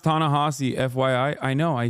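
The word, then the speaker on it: Ta-Nehisi: that's for a time it's pronounced tanasi FYI I know I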